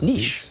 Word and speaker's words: niche: Niche. Some people say potato. Some people say potato. They do. She said, no, you said it wrong. It's niche.